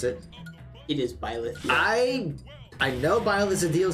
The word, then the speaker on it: Byleth: I think that's how you pronounce it. It is Byleth.